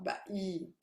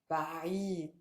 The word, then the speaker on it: بعيد: So if you didn't have a ayn here, look how you would pronounce it. بعيد. Okay, if there was actually a hamza, if there was a stop, بعيد. But we want بعيد.